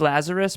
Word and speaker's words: Lazaros: It's Lazarus, but Lazarus. honestly, doesn't matter to me. We have a lot of Hispanics, and yeah. they pronounce it Lazario here. Oh, okay, gotcha. Yeah, So, Lazarus. Yeah, Lazarus. It's OS, so most people get that wrong.